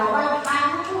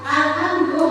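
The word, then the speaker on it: الحمد: Nah, Alhamdulillahi itu coba diingat-ingat perbedaannya Alhamdu ha alif ta itu alif ta besar. Tipis ya. Alhamdu ha alif ta tipis itu artinya jauh bagi Allah. Tapi kalau kita bacanya pakai ha besar itu maknanya enggak lain lagi kemuliaan bagi Allah gitu ya.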